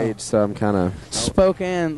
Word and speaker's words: Spokane: Spokane, like in Spokane, is that how you say it?